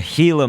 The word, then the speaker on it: Gila: a Gila monster, and so that's how it is pronounced. Some people, I think, try to say Gila monster, but it's a Gila monster.